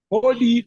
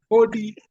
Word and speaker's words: hodi: Hodi, not Who's- two. Oh, Hodi. Hmm. Just pronounce it the way it is written. Hody.